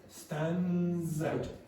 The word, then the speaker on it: stands out: So it's almost as if you got stands out. Actually, the D disappears basically. So you have stands out.